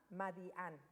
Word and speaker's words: Madián: Aquí nos va a decir, la ciudad se llama Madián, con acento en la A, Madián.